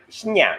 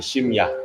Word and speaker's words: 심야: Midnight, 심야, right? In Korea, 심야. Oh. 심야, just N sound and M sound, right? This is definitely 심야. Yes. Shinya and Shimya.